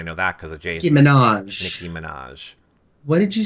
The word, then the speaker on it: Minaj: The only thing I know about her is she's been fighting with Nicki Manja on Twitter, and I know that because of Jason. Nicki Minaj.